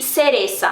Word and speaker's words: cereza: cigüeña e cereza, beleza, mas é na Espanha que o C seguido de I e de E tem esse som parecido, esse som como o do Z, que é pronunciado na Espanha, que é aquele, então, né, tipo TH do inglês.